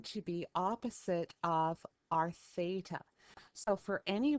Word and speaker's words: Theta: and we pronounce that Theta now Theta is actually a Greek letter okay so it's actually pronounced Theta and as I said